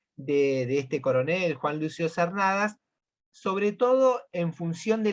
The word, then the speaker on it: Cernadas: Cernadas. ¿Cómo se pronuncia, Perfecto.